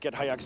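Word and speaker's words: Git Hayetsk: did the company get together well it's actually pronounced get hyacks dancers um mikeyell and i actually i'll let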